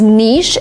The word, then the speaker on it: niche: people say Nish and some people say nich nich is closer to the original pronunciation that is French but in America people